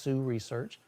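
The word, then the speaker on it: Hsu Research: I recently got in some speakers from Sioux Research. HSU is the way it's spelled, but it's pronounced Sioux Research.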